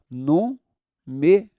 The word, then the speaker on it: número: A palavra número tem assim, ó, número. Se fosse aqui, já te disse, seria oxítona. Se fosse aqui, já te disse, seria paroxítona. Mas é a antepenúltima.